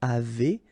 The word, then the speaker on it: avez: nous avons, vous avez, a Z at the end will produce this E sound, avez, little link between the two, vous avez, ils ont, okay, final